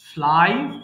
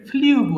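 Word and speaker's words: flew: এরপর ফ্লাই ওড়ানো, ফ্লাই ফ্লু ফ্লোন। অর্থাৎ এটাকে আমরা ভুল করে ফ্লিউ বলে ফেলি, বড়রাও ফ্লিউ বলে, হ্যাঁ?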